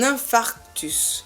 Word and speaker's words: infarctus: est ensuivi etc etc un infarctus c'est un problème de coeur ce n'est pas une infraction donc on ne rajoute pas de r c'est un phare titus